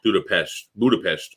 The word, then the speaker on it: Budapest: Budapest. As Hungarian accent.